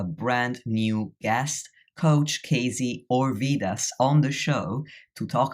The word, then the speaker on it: Orvidas: Today I have Kazy Orvidas. And I actually forgot to ask you, Kazy if Orvidas is how you say your last name, but I hope I got it right.